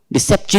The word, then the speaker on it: deception: change the pronunciation and stress also should be correct now for example if you have stress by mistake if you have written stress here say here shun and you are not written here I am pronouncing deception but you have written stress there what happens here how do you pronounce this deception reception it becomes wrong so therefore deception next